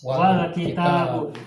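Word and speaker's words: والكتاب: Nah, cara bacanya gimana? Meskipun ada alifnya, alif masih dibaca. Bacanya gimana? Wal-kitabu. Huruf harokat fathah pada wawu ini, wa, langsung disambung, diwasol ke sukun pada huruf lam.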